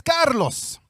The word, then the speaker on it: Carlos: I appreciate the introduction many times people mispronounce my name but it is Carlos so I know I'm